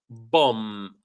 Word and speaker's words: bomb: Napalm bomb, no B. The second B is silent.